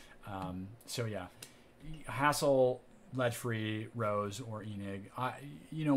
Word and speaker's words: RoHS: of hazardous substances directed rohs pronounced rose always do lead free